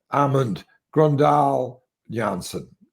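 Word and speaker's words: Amund Grøndahl Jansen: I mean, I was impressed with the Norwegian, with the other Janssen, which is the correct way to say it is Amund Grøndal Janssen.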